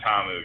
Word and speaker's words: Ta'amu: So I think Tamu's in a great spot. Ta'amu, excuse me.